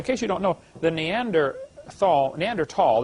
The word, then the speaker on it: Neanderthal: By the way, in case you don't know, the Neanderthal Neanderl, the H is silent. Neander tall man is named after